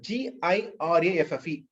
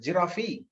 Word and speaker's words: giraffe: ஜிராஃபி, ஜிராஃபி. Most of us pronounce. Of course, some of you are very much aware of the pronunciation. Giraffe. E வந்து silent. கடைசி இது E is silent. So giraffe, giraffe.